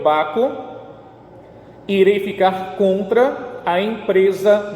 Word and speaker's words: Baco: o barco ou dionísio se pronuncia o meu baco ele ficar compra a